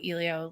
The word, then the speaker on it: Eleo: I say Elio, and it's Elio.